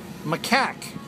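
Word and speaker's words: macaque: says M Mau feces study makaku I can't pronounce it what's a Mau it's m a c a q u e maak okay you know what a m is no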